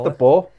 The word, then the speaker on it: De Boer: His name's De Boer. Yeah, Always been De Boer. It's spelled Boer, innit?